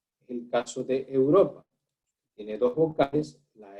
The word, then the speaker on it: Europa: Y si usted se da cuenta, esta palabra tiene la sílaba tónica, es decir, la acentuación en la sílaba ro.